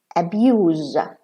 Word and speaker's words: abuse: Abuse, like the father is abusing his child. Or, and abuse as a noun.